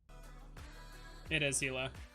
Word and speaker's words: Gila: Weird as hell, don't get me wrong, but yeah, it is Gila.